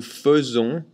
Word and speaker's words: faisons: Interesting thing too, nous faisons, this AI is pronounced E, nous faisons. AI is usually pronounced E, like in je fais, tu fais, il fait. But for nous, it's nous faisons.